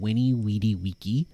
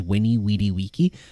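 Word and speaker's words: veni, vidi, vici: you, well, um, actually the V is meant to be a W sound, and he said Winnie Wedy waky. Uh, the C is meant to be a K, so it's it was winny weedy waky.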